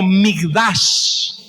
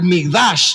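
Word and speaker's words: מקדש: Esa palabra viene del hebreo y se pronuncia algo así como Migdash.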